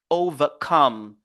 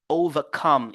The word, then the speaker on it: overcome: l'accent primaire understand understand ici aussi on a overcome overcome overcome ici aussi vous voyez la lettre O seulement constitue presqueune syllabe maintenant on a ve on a com on se focalise sur come overcome overcome et nous avons fulfill